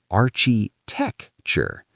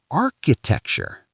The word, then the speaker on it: architecture: They say architecture with a ch sound like chocolate. But that's wrong. Yes, the ch is a k sound. Like cat. Exactly. Architecture. Architecture. Perfect. So the ch is a K sound here.